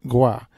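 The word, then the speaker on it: Groix: French island of Gras that's belt gr o IX but pronounced Gua it's about six miles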